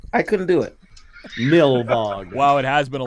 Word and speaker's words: Nilbog: trying to remember how to say it, Goblin backwards. I couldn't do it. Nilbog.